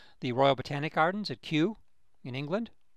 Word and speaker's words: Kew: The Royal Botanic Gardens at Kew in England. Q is spelled K-E-W.